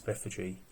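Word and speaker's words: Bethphage: I did check the pronunciation before I started the video to make sure I've got it right. It's Bethag.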